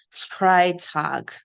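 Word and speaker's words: Freitag: then Thursday is donut tag then Friday is fry tag now you can see the tag tag tag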